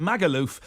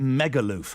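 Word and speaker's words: Magaluf: It's Megaloof by T-Rex, and it's the only song title I can think of where, of course, you pronounce it Magaloof, but he pronounces it Megaloof.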